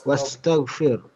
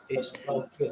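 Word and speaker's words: استغفر: Dibaca Wastaghfir. Wastaghfir. Wastaghfiru. Ini kalau wawunya hilang, gimana bacanya? Istaghfir. Bikastaghfir. Istaghfir. Kalau di awal istaghfir. Beristighfar lah, istaghfir. Kepada Istaghfir. tapi kalau dia disambung, dia hilang. Wastaghfir.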